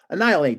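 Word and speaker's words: Annihilape: And that Annihilate.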